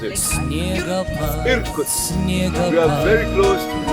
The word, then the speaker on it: Irkutsk: How do you pronounce it? Irkutsk.